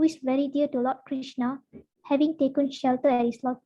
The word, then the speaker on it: Krishna: mantra hari krishna krishna krishna krishna hare rama pronounced krishna and brahma rhymes with drama are sanskrit words